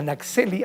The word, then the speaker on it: Naxhelli: Para eso hemos invitado a Naxeli, así se pronuncia, ¿verdad?